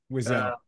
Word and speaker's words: Wiseau: Wiseau. So Wiseau, I think that's how I looked up the pronunciation earlier today, and that's what the pronunciation.